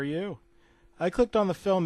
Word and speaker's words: Ü: I guess you were supposed to pronounce it like Toy Story U, but the letter U had those weird dots over it.